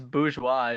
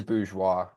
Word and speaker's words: Bourgeois: I think it's Bourgeois is how it's It pronounced. is Bourgeois.